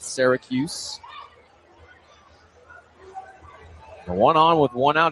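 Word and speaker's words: Sorgius: It'll be Kendrick Syracuse in S O R G I U S how he spells it, but pronounces it. Syracuse.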